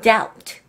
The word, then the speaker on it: doubt: B가 묵음 소리를 나죠? doubt.